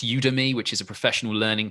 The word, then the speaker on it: Udemy: There's videos called Teaching Your Child to Read, which are on, I think it's pronounced Udemy, which is a professional learning platform.